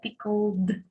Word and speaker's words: pickled: yeah and then pico because there is no e sound between l and d it's together pickled so mind that you